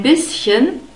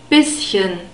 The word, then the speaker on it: bisschen: I I am bisschen we have a short e sound in bisschen and a sharp s and we have this